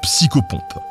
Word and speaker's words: psychopompe: Arthur vers Avalon, reprend le rôle de psychopompe [PRONONCER : psyco - pompe], c’est-à-dire de passeur entre le monde des vivants et celui des trépassés.